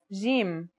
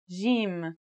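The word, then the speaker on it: جيم: our first letter is Jim this one is easy to pronounce it's somewhere between a g and a j depending on the accent for example Standard Arabic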